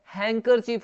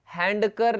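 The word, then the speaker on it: handkerchief: और इसको देखिए रुमाल को, ये क्या होता है, हैंकरचीफ होता है, क्या होता है, हैंकरचीफ। हैंकरचीफ मतलब रुमाल, हैंडकर नहीं बोलेंगे, हैंकर, हैंकरचीफ।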